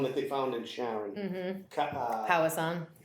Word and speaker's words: Powassan: Powassan. Yes. Powassan. Yep, house on, Yep.